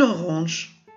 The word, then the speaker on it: orange: Une orange. Cette fois-ci, le G est suivi d'un E. Donc, G suivi d'un E nous donne aussi le son je.